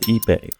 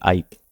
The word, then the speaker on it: ipe: And while I'm doing that, let me actually tell you about this wood, which is called ipe, even though it looks like you pronounce it ipe.